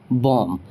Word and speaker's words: bomb: ठीक है, यहाँ पे जो बी आया है वो किसके बाद आया है, एम के बाद आया है, तो यहाँ पर बी क्या हो जाएगा, साइलेंट हो जाएगा और आपको एम ही प्रोनाउंस करना है, जैसे कि बॉम।